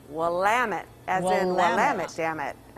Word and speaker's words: Willamette: i must correct us one thing we are pronounced willamette as in willamette damn it oh okay all